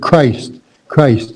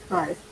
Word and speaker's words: Christ: So just think of Christmas, and then you'll get the word Christ. It's the C is like a K, a k sound.